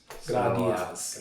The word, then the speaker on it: Gradias: Gradias.